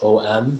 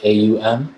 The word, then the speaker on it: aum: to my body and not om but the aum which is the actual that's the actual way to pronounce it believe it or not